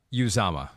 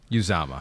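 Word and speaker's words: Uzomah: And by the way, Pete put in our document here, it is pronounced from the man himself, yew-ZAH-mah. yew-ZAH-mah.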